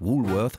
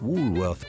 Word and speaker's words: Woolworth: kein Karstadt sondern eins das letzte war richtig denn es wird englisch ausgesprochen denn ursprünglich kommt das Unternehmen aus den USA 1879 eröffnet der Pharma Sohn Frank Winfried Woolworth dort den ersten Laden